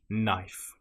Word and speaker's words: knife: If you have the letters K N together in that order, again, you probably won't pronounce the K. A common example will be knife. It just starts with a sound N. Knife.